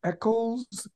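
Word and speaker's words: Echols: if I'm correct you were an is it pronounced echo's scholar yes yes that's a special scholarship program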